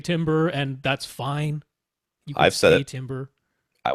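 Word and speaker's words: timbre: why is t i m b r e pronounced tamber because it's dumb English language is dumb dumb it's dumb it is I mean I've I've heard people say timber and that's fine Timber I was corrected I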